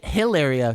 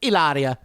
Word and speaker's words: Hilaria: i'm not just saying she doesn't even say hilaria she says ilaria eleria eleria it's spelled hilaria but she says it's aleria and then her name's